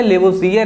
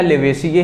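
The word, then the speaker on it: Lavoisier: लेवोजियर है या लेवेशिय हैं। यही हम कहते हैं। जैसे सिकंदर का नाम तो एलेक्जेंडर था। बट हम उसको सिकंदर कहते हैं। तो प्रोनाउंसिएशन में ये केवल डिफरेंट है। बात दोनों एक ही है। लेवोजियर कहें या लेवेसियर कहें।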